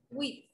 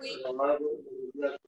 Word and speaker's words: huit: Pronunciation of 8 is wheat.